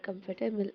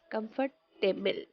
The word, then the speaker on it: comfortable: People think that they have to choose the same pronunciation in the word comfortable, and so they pronounce it like this: comfortable, table. But that is not right pronunciation. How do we go about this one? It is table? No. Comfortable. Pronounce with me. Comfortable. Comfortable, not comfortable.